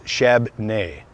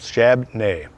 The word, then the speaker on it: Shabbona: Shabbona pronounced his own name as Shabney. 2 syllables, Shabney.